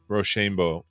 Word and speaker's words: roshambo: I mean uh Roshan roshambo is our it's our it's how we pronounce it here on the AI show roshambo okay well I've